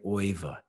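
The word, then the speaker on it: Euwe: He played Oiva. Oiva is the only guy I don't pronounce in the American accent, who we say you or something like that.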